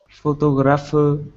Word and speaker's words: photograph: way what that means the first word photograph has the stress on the first syllable the brown syllable there and so the shape they show you that the first syllable is more important or louder than the other syllables and then it's three syllables total the first syllable is